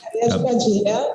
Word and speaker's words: Padilha: Am I pronouncing that correct? Padilla, yeah, Queen of the Souls.